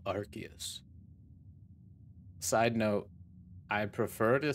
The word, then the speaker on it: Arceus: art here i am that which humans call arceus side note i prefer to say arceus but